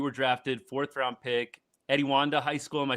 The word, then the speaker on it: Etiwanda: So, 2019 was the year you were drafted, fourth round pick, Eddie Wanda High School. Am I saying that right? Etiwanda, yes, sir.